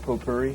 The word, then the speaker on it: potpourri: and eating flowers and you know smoking pop po-puri how do you pronounce that potpourri potpourri yeah right I like to smoke potpourri